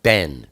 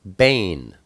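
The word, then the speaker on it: בֵּן: word for son is, it looks like ben, B-E-N, in English, but it's pronounced bane.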